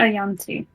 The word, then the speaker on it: yuan-ti: Is it a snake or is it a yanti?